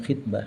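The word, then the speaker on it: خطبة: Ai bikasril kha'i, tegasnya dengan kasrah kha dibacanya khitbah. Khitbah itu kata pengantar dalam sebuah karya tulis.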